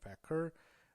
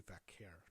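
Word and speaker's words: Vaquer: Stephanie Vakur or sorry Stephanie Vair defending her title against Fallen Hen. I'm gonna get her last name right. It's I I thought to me it's Vakur.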